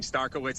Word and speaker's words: Starkawitz: Starkawitz is how we pronounce it here at Jackal World.